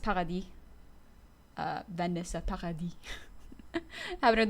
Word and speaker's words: Paradis: by uh Vanessa PADI or Paradis in French it's pronounced PADI uh Vanessa PADI haven't